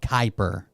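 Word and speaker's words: Kuiper: Amazon's version of the satellite internet is called Kyper. Like Ky Per, but it's spelled Kui. Kyper.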